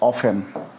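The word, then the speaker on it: often: D hardly আর হচ্ছে অফেন অফেন এবং অফটেন দুইটি উচ্চারণ ঠিক ঠিক আছে একটা মেহেরান আরেকটা হচ্ছে ব্রিটিশ ঠিক আছে ডট ডট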